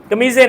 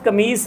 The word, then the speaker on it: قمیص: قمص، قمیضیں نہیں پہنی۔ اصل لفظ قمیص ہے عربی زبان کا، جس کو ہم قمیض کہتے ہیں، ٹھیک ہے، یہ عربی سے اردو میں لفظ آیا قمیص، اب اس کا تلفظ خراب ہو گیا، قمیض ہو گیا۔ وللعمائم، اور عمامے نہیں